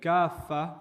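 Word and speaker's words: كافة: But kaffa, one of the interesting differences between them is that the syllable is stretched. So actually when you're reciting it with tajweed, you're reciting udkhulu fi silmi kaffa. It's really long.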